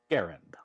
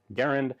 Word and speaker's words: Garand: a somewhat more obscure as in errand Accent on the first syllable or according to the Merriam-Webster system of marketing Garen so that is how